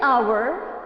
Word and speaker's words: hour: why is it so despite both of them are beginning with h because it is not about the letters it is about the beginning sound here the beginning sound is h and here the beginning sound is o so if the beginning